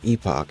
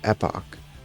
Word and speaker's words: epoch: English and okay so it's not Epoch it's Epoch well let me let